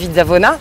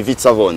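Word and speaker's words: Vizzavona: sinon j'aurais dit SIAV j'aurais dit vzavona ouais on dit vzavone en général les les n cors on avale toujours la dernière syllabe très bien fizzavon alors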